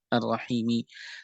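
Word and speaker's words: الرحيم: Kenapa Ar-Rahmani Ar-Rahimi dibacanya kasroh? Ar-Rahmani Ar-Rahimi. Karena Ar-Rahman dan Ar-Rahim adalah sifat Allah.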